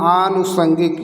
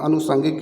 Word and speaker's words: आनुषंगिक: निम्नलिखित में से सही वर्तनी होगी आनुषंगिक, यही सही, आनुषंगिक, अनुषंगिक ये भी गलत, ये भी गलत, ये भी गलत। अगर आप शुद्ध उच्चारण करेंगे, शुद्ध लिखेंगे, शुद्ध पढ़ेंगे तभी सही हो पाएगा, तो आनुषंगिक यही सही है, आनुषंगिक।